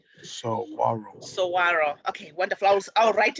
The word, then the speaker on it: saguaro: please uh then if you are able yes saguaro saguaro okay wonder flowers i'll write it the way i pronounce it so i don't forget so arrows